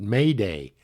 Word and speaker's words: Mayday: the International Telephone distress signal consists of the word Mayday pronounced as the French expression and of course I